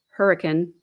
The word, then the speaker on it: Hurricane: It says Hurricane, Utah, but in Utah they pronounce it Hurricane. Washington County Sheriff's Office in Hurricane, according to Sergeant Lance Alfred, a spokesperson for the sheriff's office.